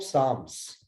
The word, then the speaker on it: psalm: So especially in the Holy Bible, there is the book of Psalms, Psalms. So you may be surprised that why I call it as a psalm. P is silent, L is silent.